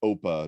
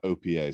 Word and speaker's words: OPA: open policy agent uh the folks at styra who created it call it oppa not opa so i'll use their their